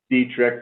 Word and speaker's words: Detrick: maybe google ryan dietrich which is spelled d-e-t-r-i-c-k pronounced dietrich but spelled detrick and um so ryan that's